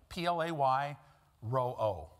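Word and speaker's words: πληρόω: It's the Greek word that would be pronounced play, P-L-A-Y, ro-o, R-O slash R-O, or slash O. Play ro-o. It's not spelled that way. It's spelled P-R, or P-L-E-R-O-O.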